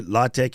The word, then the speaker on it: latex: it's spelt t-e-x but it's just tech so it's this we say latex and latex both of those are